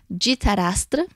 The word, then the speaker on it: Dhritarashtra: E se conta que os Kauravas eram filhos de Dhritarashtra, pronunciado mais ou menos assim, e ele era um rei cego.